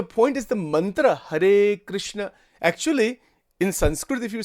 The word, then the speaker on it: Krishna: The actual pronunciation is Krishna.